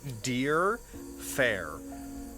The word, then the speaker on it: Deer Fair: It's spelt, because his name is said with a slightly sort of pseudo-Gaelic tilt to it, the R is silent, but it is spelt Deer Fair.